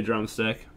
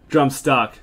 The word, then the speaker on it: Drumstuck: Yeah, that's a move that crossed my mind too, drumstick. Drumstuck, my bad. Been mispronouncing it this whole time.